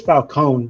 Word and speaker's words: Falcone: It is Falcone because that's the correct Italian way of pronouncing it.